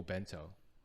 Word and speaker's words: obento: so um oh bento i see it written as oh bento but like when talking to people on the street i don't hear people say oh bento they just say bento uh it's small bright way to say okay so i think uh more female says opento okay but guys say bento but there's like many many words with o in front of it it's just like the